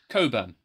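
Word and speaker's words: Cockburn: So I'm going to be slowly opening our bottle of port, which is the name I will pronounce correctly. Otherwise, we might get demonetized. Coburn.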